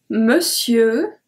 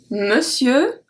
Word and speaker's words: monsieur: We don't even pronounce the R at the end.